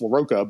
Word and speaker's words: LaRocca: And if we want to know how to pronounce, Chris Pacello and Salvador LaRocca, it's LaRocca, but like there's a million.